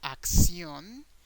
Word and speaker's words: acción: There's a small change in pronunciation or intonation in the syllables of these two words because in English we have action, so the a is the strong sound of the word.